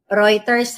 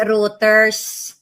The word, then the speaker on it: Reuters: Reuters ha. Hindi routers.